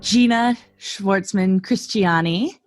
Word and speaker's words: Gena Shvartsman Christiani: Gena Shvartsman Christiani. You pronounced my name so perfectly.